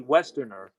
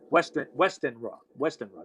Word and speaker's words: Westenra: Okay, you have Arthur Holmwood, who's there's this woman Lucy Westerner, Westenra. That's how you pronounce it.